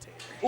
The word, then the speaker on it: Tatour: I do believe it's pronounced Tater. It is pronounced Tater, but they spelled it wrong. On the back, well, they spelled it wrong, but it's pronounced Tater.